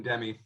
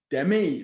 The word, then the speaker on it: Demme: a 1991 movie directed by, I'm going to mispronounce this and embarrass myself, Jonathan Demme. Demme, thank you, because I was not going to say it that way, so I'm glad you bailed me out.